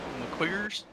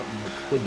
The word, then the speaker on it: McQuiggan: McQuiggers? I didn't expect you to pronounce his name like that. Joshua McQuiggan.